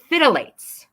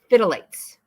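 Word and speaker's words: phthalates: haven't even heard of fidelates I'm going to spell that for you pee p h t h a l a t e s fidelates okay you want to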